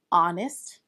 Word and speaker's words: honest: Well, this is because the first letter of honest actually sounds like a vowel. It sounds like Omnest because of how the word is pronounced honest and O is indeed a vowel.